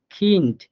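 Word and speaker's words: Kind: same ভাবে দেখেন খিন্ট এই খিন্টের লাস্টে দেখেন ডে টাকে আমরা শব্দের শেষে পাইছি এজন্য আমরা এখানে হালকা ট এর মত করে উচ্চারণ করছি অর্থাৎ খিন্ট অর্থাৎ পুরোপুরি ডনা হ্যাঁ পুরোপুরি ড না হালকা ট এর মত উচ্চারণ হবে খিন্ট তাহলে আমরা ডে এর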